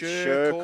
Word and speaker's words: Shearcore: It's Shearcore. Shearcore. As in Shervington.